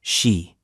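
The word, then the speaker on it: 四: In Japanese culture, the number four is pronounced she, which also means death.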